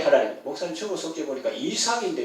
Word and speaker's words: 이삭: 이 저하게 하나님, 목사님 주보 속지 보니까 이삭인데 왜 이삭이라고 했습니까? 할 때 히브리어로 어느 교수가 말하겠지 표현이 좀 그렇습니다만 가래 끓는 소리처럼 이삭 이것이 본래 발음이거든요.